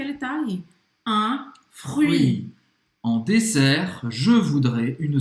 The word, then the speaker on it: fruits: En dessert, je voudrais une salade de fruits. Na sobremesa, eu gostaria de uma salada de frutas. Une salade de fruits. Então, presta atenção nessa pronúncia. Esquece o T e pronuncia bem UI. UI.